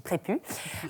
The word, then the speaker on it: Prépuce: est un ace aspirer ça s'écrit prépuce mais ça se dit prêt pu et elle c'est un